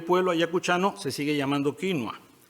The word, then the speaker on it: quinua: Lima no tiene remedio Porque allá dicen quinoa para ningunear al quechua pero en España todo se arreglaría si se descubriera que la pronunciación inglesa de que no a quinua porque el hablante peninsular Pérez Picasso podría aplicar una regla de tres directa vídeo es a vídeo como quinoa es a quinoa Y si a pesar